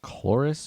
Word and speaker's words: Chloris: Is it Chloris or Clarice? Chloris.